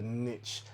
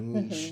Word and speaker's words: niche: And from there, I'm pretty sure you'll be able to carve out a niche or a niche, depending on how you pronounce it.